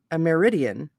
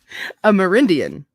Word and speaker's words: Amerindian: this ameri this america a meridian oh no have i been saying it wrong all this other time am ammerini ameridian amerindian no yeah a merindian amerindian savior reminds one of